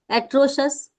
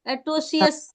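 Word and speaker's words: atrocious: यस so pronounce again एट्रोशस एट्रोशस देखो होता क्या है सी आई ओ यू एस है तो हम लोग सीएस एट्रोशियस जनरली बोलते हैं बट इट इज नॉट a right way okay ए्रोशस एट्रोसोस यू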